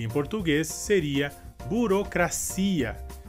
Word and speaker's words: burocracia: Nossa próxima palavra seria, em espanhol, burocracia, e em português seria burocracia. Em espanhol, a sílaba forte seria cra. E em português a sílaba forte seria si.